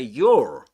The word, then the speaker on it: your: So you say yo in this accent. But in American English, you would say your. But in this accent, in Standard Southern British English, you don't pronounce it. You don't pronounce the last consonant, right? The letter R.